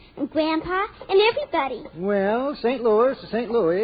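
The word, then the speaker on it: Saint Louis: the strongest horse in St Louis excuse me Mr Castello but it's pronounced St Louis that's funny now you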